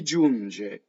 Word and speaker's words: giunge: Giunge. Notice that the N goes into the G.